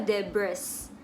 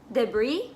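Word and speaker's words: debris: buat gue selanjutnya ini gue dulu Bacanya adalah Jebres tapi gue tahu esnya itu disini sekarang Sailen jadi Debby Debby Debby d Hai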